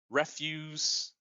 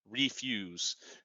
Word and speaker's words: refuse: that go around where if you just change the placement of the accent, right, which syllable is accented, refuse or refuse, the accent changes how the word is pronounced and changes to a completely different word, even though it looks the same.